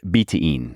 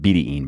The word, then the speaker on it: betaine: sports now what is betaine also pronounced betaine by the way it can be pronounced either way if you're wondering but i first learned betene and it has stuck